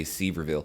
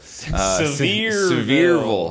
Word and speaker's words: Sevierville: wife and i we got married in um sevierville i always want to say sieberville several is how that's pronounced uh tennessee and smoky mountains and so